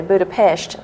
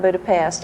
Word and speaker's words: Budapest: in Budapest and and I pronounced it like the Hungarians do Budapest not Budapest I learned that very